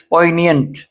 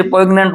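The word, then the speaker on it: poignant: pronounce it again please पोइनियंट means touching बहुत गहराई से जो दिल को छूने वाली चीज हो इसको बहुत से प्रोग्नेंट बोलते रहते हैं बच्चे दिस इज पोइनियंट ऑफ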